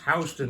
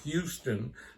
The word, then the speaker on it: Houston: on at First Avenue in Houston which is pronounced housed in not Houston because Houston is a man in Texas and